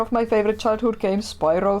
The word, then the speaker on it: Spyro: neb welcome to Spyro I go for the weird English pronunciation of Spyro normally I just say spirro but when I'm talking English I go Spyro so weird Okay controls